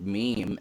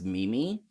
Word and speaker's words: meme: like that um i i hear people pronounce the word meme as mimi or men's and i'm just like